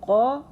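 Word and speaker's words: ق: So this qa is pronounced, and it's a heavy letter.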